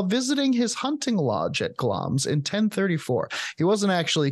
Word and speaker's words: Glamis: is sometimes known um so the monster of gloms uh takes place at gloms Castle it's it's spelled g l a m i s but it's pronounced glams best known as the seat of the titular